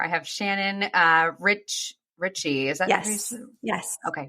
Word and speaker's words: Ritchey: as you hear I have Shannon uh Rich Richie is that yes okay Richie I want to make sure I pronounced your last name correctly um with me